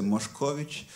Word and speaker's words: Moscovici: Et donc, en polonais, on va le prononcer Moscovici.